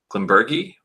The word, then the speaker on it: Glenburgie: Hard G. As I've always heard, Glenburgie.